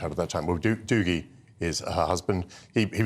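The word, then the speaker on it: Dougie: we've never heard of dooie dooie in the Scot so he takes the Scottish pronunciation Doogie I mean do you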